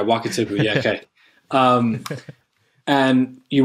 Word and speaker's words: Wakatipu: was looking over what how do you say it like wakatipu just making sure i say it right yeah walk it tip yeah okay um and